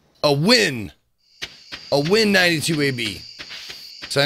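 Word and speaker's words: Nguyen: Oh, unless it's a win. A win 92AB. So I know I recognize that surname, the N-N-G-U-Y-E-N. And I've been told it's pronounced win.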